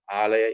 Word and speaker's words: alaya: They call it alaya vijnana. Alaya is house, or storage. ALAYA, long A, pronounced longer R, LAYA, alaya.